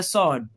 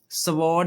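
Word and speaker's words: sword: जैसे यह लफ्ज है स्वर्ड स्वॉर्ड नहीं पढ़ना इसे स्वर्ड।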